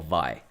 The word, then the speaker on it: Vi: Do I pronounce it VEE or do I pronounce it VI? Like V or Vi? Ah, thank you, Zed. Okay, Vi.